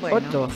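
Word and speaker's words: otto: se lo va a llevar el número ocho oto oto se dice oto ot yot eh Cómo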